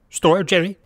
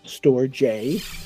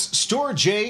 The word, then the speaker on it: StorJ: storage software it's called storage J are you kidding me no watch this I was wrong the official name is pronounced store J you heard it here first folks store J is the way to